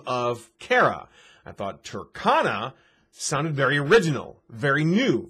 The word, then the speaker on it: Tercona: just said it obviously but some people still pronounce it as turkona so i thought i'd make a video basically explaining why it's turkana not turkona you see when i first came